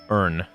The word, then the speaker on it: Irn: the way I say earn also an important thing to take note of when I'm saying NN uh I'm saying it that way because the actual drink it is spelled as like irn Bru if we're talking about